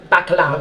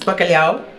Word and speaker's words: bacalhau: The cod, so this is Portuguese bacalhau. Okay, yeah. Yeah. Okay, what have you done with it here? This looks incredible. It's grilled skin potatoes. Uh-huh. It's bacalhau.